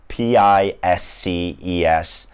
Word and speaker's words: Pisces: to be pronounced differently but it's actually spelled p-i-s-c-e-s and it's pronounced pisces and there's no other way of